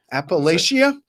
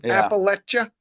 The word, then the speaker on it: Appalachia: like the foothills of Appalachia. So I never really learned how to say it right. Yeah, here it is now. Thank you, Matt. Yeah, Thank you. Parquet says it's pronounced Appalachia, not Appalachia. Appalachia.